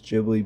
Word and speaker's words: Ghibli: I know it's Jibli, but I'll call it Gibli because that's how I've been calling it my whole entire life.